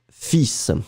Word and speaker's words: fils: So it's quite interesting because in fact, normally final S is not pronounced in most of the cases. We always have some exceptions. But in this situation, we really pronounce the S And strangely, we don't pronounce the L. Hein? Fils, F-I-L-S. You don't pronounce the L, you pronounce the final S.